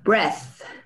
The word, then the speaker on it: breath: Luego, breath. Breath. Breath. Breath. Breath. Pues sí, va en la segunda porque la E es muy así, ¿no? Es muy cortada, es simple. Breath.